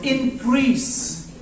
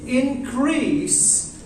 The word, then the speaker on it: increase: In the same manner, where the word increase as a noun, it is increase. As a noun it is what? Increase. Why like the first stress? First syllable or second syllable? First syllable or second syllable? First syllable. You understood me? Okay. In the verb form, the stress shifts. The stress moves to the second syllable. Or in the verb, it will become increase.